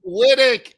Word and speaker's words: Wittich: was I thought it was and it's Connie lydick is on the show today Connie listen I